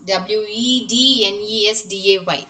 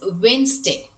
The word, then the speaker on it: Wednesday: And every week we use this, w e d n e s d a y, this is just assume that d is silent letter here, so it is Wednesday.